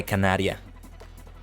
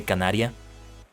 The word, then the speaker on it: Canaria: to cover King by Canaria or Canaryia if you want to say it like that. I I'm going to say it in a more Japanese pronunciation. So, I'm going to say Canaria.